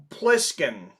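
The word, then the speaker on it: Plissken: You know that it's Pliskin.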